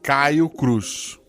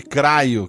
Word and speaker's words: Caio Cruz: Caio Cruz. Reza a lenda que teve um guacha verso que eu li, Craio, Crao Cruz, mas eu nego isso.